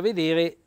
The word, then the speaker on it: veder: sarebbe vedere quindi alette invece l'accento cade sulla prima sulla prima e veder non vedere the strani e con